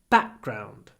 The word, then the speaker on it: background: blue background very important the stress is on back it's notr it's background back ground ground try to really dstress ground ground back is stressed so what happens we get to pause before the B back remember to smile